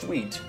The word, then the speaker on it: suite: hear about something sweet spelled like this it is pronounced sweet and it is sweeter